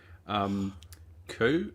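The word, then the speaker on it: Cù: Coo, is it? Coo. Yep. Coo. Coo. Pronounced COO. So okay. Coo means dog in Scots Gaelic because of in the background here.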